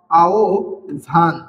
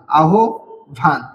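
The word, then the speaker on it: আহ্বান: এর এখানে আ রয়েছে এই আ থাকার কারণে এখানে আহবান বর্ণের উচ্চার আহবানের হের উচ্চারণ হবে ও ভয়ের মত ও এবং ভয়ের মত আর তার কারণে এই বর্ণটার উচ্চারণ হবে আও ভান আহ ভান ঠিক আছে তেমনি তারপরে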